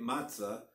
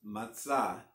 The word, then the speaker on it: matzah: we eat and again it's English we say matzah but it's matzah is the proper Hebrew pronunciation again accent being on the less so